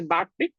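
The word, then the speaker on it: backtick: quote that's called as back tick guys. You have to pronounce this way back tick.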